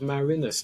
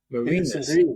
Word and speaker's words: Marinus: the book uh my my immediate mispronunciation was uh was Marin whole conversation about that